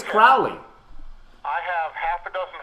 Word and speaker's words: Crowley: I think it's Crowley. I have half a dozen friends who are in the OTO here in Columbus, Ohio, and I have been corrected officially that it is Crowley rhymes with Ole.